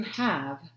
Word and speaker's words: have: like to have five so have is a word that doesn't play fair we've talked about that one it sounds like a short a even though there's an e on the end it looks like it should be the word cave but it's not he would like to